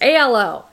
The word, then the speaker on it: Alo: I got these Alo aloe leggings how do you say it you guys it's Alo I've heard people say aloe I've heard people say